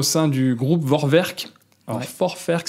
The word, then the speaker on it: Vorwerk: Alors, Vorwerk, si on le prononce à l'allemande, a priori, très peu connu comme ça.